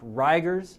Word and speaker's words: rigors: fevers rigors and hypotension now that word riggers you'll hear pronounced rigers by some physicians i'm not really sure why we never talk about rigor mortis being the stiffness a body gets after death we talk about rigor mortis well this is the same